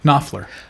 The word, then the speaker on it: Knopfler: Knopfler.